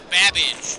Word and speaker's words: Babbage: Your buzzer is the letter B as in Babbage, which is something that rhymes with cabbage.